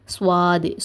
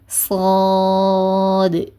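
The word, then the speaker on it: صاد: இது வந்து சுவாதுன்னு சொல்லுவாங்க. அதாவது இந்த ரெண்டுக்கும் நடுவுல இந்த ரெண்டு லெட்டர்ஸ்க்கும் நடுவுல ஒரு வாவ போட்டு ஸ்வாது சுவாதுன்னு சொல்லுவாங்க. சுவாதுன்னு சொல்லக்கூடாது. சாது சாது அண்ட் வலின எழுத்துக்கள் எல்லாம் உச்சரிக்கும் போது உதர்களை முன்னோக்கி குவிக்காதீங்க.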